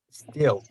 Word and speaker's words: steel: beginning but this one you give me a little a at the beginning no a right just steal just seal steel yeah steel beautiful my